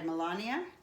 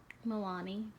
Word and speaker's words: Milani: So they gave me this little blush because it was a little too peachy, and it's by Melania. And is that how you say it? Milani. Milani, okay.